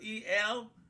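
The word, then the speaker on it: אל: but you pronounce it E-L, as Elohim in English, but it's written A-L.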